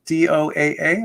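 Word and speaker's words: Doaa: Yeah, my name is Doa.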